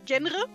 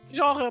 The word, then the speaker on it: genre: So at some point in like literature class, I just said genre, which is like the phonetical German pronunciation. But like in German, you also say genre because it's a French loan word, right?